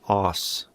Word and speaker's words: arse: Did you know arse is pronounced like os in the non-rhotic British English accent?